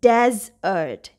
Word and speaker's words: desert: Then this word, it's dessert and it's desert. Dessert, desert. In this one, we have the stress on the second syllable, dessert. Here we have the stress on the first syllable, desert.